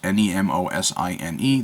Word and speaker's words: Nemosine: I have heard several different ways to pronounce this pen's name. Nemo sign, Nemesine. Well, I'm going to call it Nemesine, just because Nemosine, that's how it should sound to me.